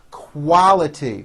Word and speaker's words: quality: the use of alcohol quality your tongue should come up slowly for the l quality this shirt is